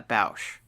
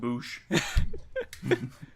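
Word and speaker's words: Boushh: Salacious Crumb or a Salacious Crumb and a Bausch.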